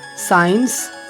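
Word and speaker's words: science: या अगर किसी शब्द के शुरुआत में S और C आते हैं, SC, और SC के बाद कोई वॉवेल होता है तो C का उच्चारण वहाँ पर नहीं होता। For example साइंस, scissor, साइंटिस्ट।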